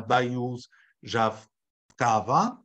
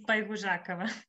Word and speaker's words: Baihuzhakava: Baihuzhakava. No, not really good. Almost. It's Baihuzhakava.